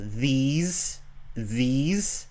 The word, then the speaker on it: these: Well, one is a long E sound, and one has a short I sound. So these, and this.